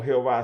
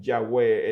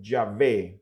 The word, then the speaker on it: Yahvé: de pronunciar el tetragramatrón no era como Jehová, sino que como Yahwé, es decir, aquellas consonantes del nombre de Dios que se traducen como la Y, la H, la V y la H, habrían de traducirse o pronunciarse como Yahvé.